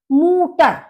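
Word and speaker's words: Mutter: मूटर। मूटर यानी मदर, माँ। क्योंकि यू का जो प्रोनाउंसिएशन है ऊ होता है, तो इसीलिए आपने देखा होगा मूटर यानी कि मदर।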